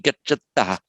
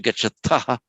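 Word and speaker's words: गच्छतः: And I think I heard you being very careful, correctly careful, to pronounce it as an unaspirated T, gacchata, Yes. as opposed to gacchata, which would be the U.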